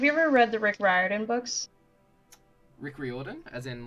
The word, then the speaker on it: Riordan: rick riordan author of all right that's wrong ryadan ugh yuck rick you've broken my heart anyway